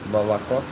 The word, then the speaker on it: молоко: Молоко.